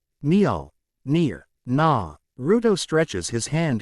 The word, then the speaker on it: Mjolnir: It's Maya-mu. This time Loki does chuckle, shaking his head. Mjolnir. He corrects. Naruto scrunches up his nose, trying to get the right pronunciation. Mjolnir.